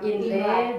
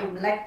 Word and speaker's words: Imlek: Bukan lidah Indonesia, jadi memang dialek Hokkien. Bahasa Hokkien itu memang Imlek, bacanya Imlek gitu ya.